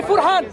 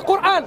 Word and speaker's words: Qur'an: You think we would say Furhan, but it's actually Qur'an, because you don't read Maghribi script.